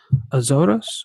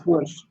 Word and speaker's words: Açores: and he was one of the founders of Azores. How do you say that island? The little island over there. Açores.